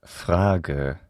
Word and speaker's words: Frage: What is the vowel sound at the end of Frage? If you guessed a schwa, you're right.